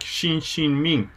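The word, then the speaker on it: Xinxin Ming: old Chinese text uh Japanese reading is shinjin me I think in Chinese your pronounce it something like Xin Xin Ming and here you got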